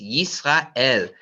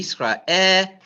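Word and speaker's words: ישראל: It's Yisrael. Yud, E, Yi. Sin, silent, Yis. Resh, A, Ra. Aleph, E. Aleph is silent, but I still got an E. Yisrael, and there's a Lamed. Yisrael.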